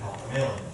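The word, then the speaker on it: Halq'eméylem: which means child, and Haukamalam, which means Haukamalam. It's an upriver pronunciation of the name of the language. And you're like, okay, the sound is N, so why did we pick Nila and Haukamalam?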